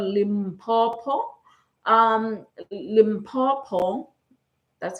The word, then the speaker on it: Limpopo: Um, Limpopo, that's how you pronounce it. I used to call it Limbbo, a limb bomb.